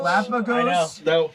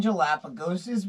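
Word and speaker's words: Galápagos: and Oh, that was such- Galapagos. That reflex. I know. Yeah. There's no G. I call them Galapagoses because I have decided they're called Galapagoses.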